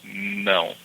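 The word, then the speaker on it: não: So you start with the tongue on top of your your mouth there and says no. The sound almost comes out of your nose.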